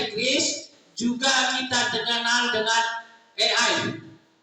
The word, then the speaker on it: AI: juga kita kenal dengan e I. E ii atau bahasa Indonesianya A i. Karena a itu dalam bahasa Inggris bacanya e. I itu dalam bahasa Inggris bacanya I. Jadi A I.